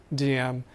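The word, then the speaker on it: Diệm: I say Diem, you say Diem, that's okay. You pronounce it a little bit better.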